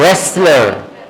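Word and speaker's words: wrestler: है डब्लू गया तो रंग नहीं पढ़ेंगे रंग रेसलर क्या रेसलर ये कौन होता है पहलवान कुश्ती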